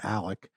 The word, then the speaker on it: Alex: the small town it's Alec Murdock is his name that's not how he spells it he spells it a-l-e-x but everyone calls him Alec I don't know why